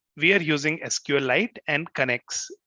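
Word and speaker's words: Knex: are using sqlite and connects it's pronounced as next next or connects i'll stick to connects so here is a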